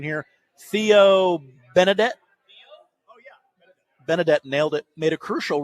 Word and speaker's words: Benedet: After former player, and Nick, you might have to help me with the pronunciation here, Theo Benedette. Benedette nailed it, made a crucial rookie mistake.